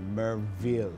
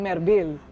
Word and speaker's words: Merville: kasi mga kaibigan ang ang authentic na taga merville ay kayang banggitin at i-pronounce ang v ng merville Okay pero pag hindi